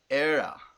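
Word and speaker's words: Éire: Ira. Ira. So, like, we call Ireland in Afrikaans Ierland. So it's almost like that. Ierland. Ireland. It's pronounced era.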